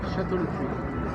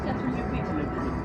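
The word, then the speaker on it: Château le Puy: How do you pronounce that? Chateau le Puy. Chateau le Puy.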